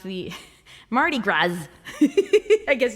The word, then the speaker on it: Mardi Gras: Mardi Gras. I guess you don't pronounce the H. The S.